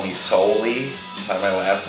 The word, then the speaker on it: Sowley: I'm a lot of people call me soy by my last name and it's pronounced so not s I'm going to take